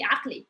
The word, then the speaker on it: عقلي: عقلي is I put the vowel, but normally actually we don't put the vowel. It's like we say it like really fast. We say عقلي عقلي عقلي. So there is like you can hear the vowel. It's just like we say it very fast.